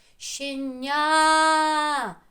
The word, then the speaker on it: щеня: наші звуки Ще ня куди наголос поставимо в слові щеня на е чи на А давайте ще раз силою голосу в прямому той склад який під наголосом а той що ні тихіше щеня щеня я почула як закричав голосом своїм звук а і паличкою ударили Ось